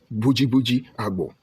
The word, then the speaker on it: Boji Agbo: Boji Agbo. This is how we pronounce it.